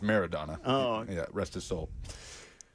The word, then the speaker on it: Maradona: That's Maradona. It's pronounced Maradona.